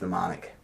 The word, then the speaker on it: mnemonic: Is that pronounced right? I never know if it's mnemonic. I think it's mnemonic. Somebody told me on a podcast recently. It's mnemonic. Whenever you connect things to other things to remember them.